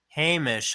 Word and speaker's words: Hamish: Hamish, huh? Rhymes with Seamus.